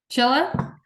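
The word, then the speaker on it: Csilla: It's hard since it's written CS in Hungarian is pronounced CH.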